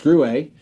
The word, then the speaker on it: Gruet: words like that right but so yeah it's grew a so now that we've covered that and now